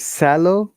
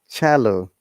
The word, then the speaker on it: cello: And the example is, how do you pronounce it? Is it sallow? Callow? No, guys, it is cello.